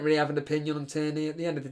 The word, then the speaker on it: Tierney: Killian Cree, thoughts on Kieran Tierney, on Tierney, how do you pronounce his name? Tierney, blimey.